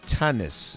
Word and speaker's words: Tanis: in the persons of Savannah Brown and Farah Tumnus Farah my pronouncing your last name correctly both your names